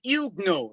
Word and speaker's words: Huguenot: it to say, the Huguenot, that's the French pronunciation, Huguenots, Huguenot, otherwise known